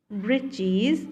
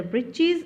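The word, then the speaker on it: breeches: shirt with old fashioned britches and a high tall hat much like a witch's here the britches and witches rhymes with each other so the tiniest man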